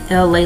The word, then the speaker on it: Elay: Once again, it's me, LA, pronounced like LA, like the city.